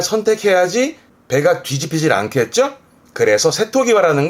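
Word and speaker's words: 瀬戸際: 요것도 중요한데 발음은 세토기와.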